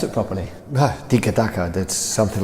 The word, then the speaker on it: tiki-taka: Where did the phrase come from, and how do you pronounce it properly? Tiki-taka, that's something like this.